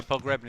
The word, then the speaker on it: Pogrebniak: but go on, pronounce his name for me. Stefan Mbia. No, the Reading. Pogrebniak. Yeah. Oh, Pogrebniak.